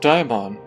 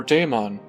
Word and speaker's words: daimon: The ancient Greek word, pronounced daimon or daemon, meaning god, godlike, power,